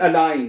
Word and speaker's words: allein: ich bin nie allein है, ich bin nie allein, मैं कभी भी अकेला नहीं होता। ich bin nie allein। अब इसमें भी देखिए ये इकट्ठा आया है, आई पढ़ा हमने, अलाइन आई। ठीक है, अच्छा ओके।